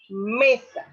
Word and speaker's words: mesa: Mesa. Si ustedes pueden observar, la fuerza o la intensidad de la voz recae sobre la me, siendo esta la sílaba tónica y sa la átona.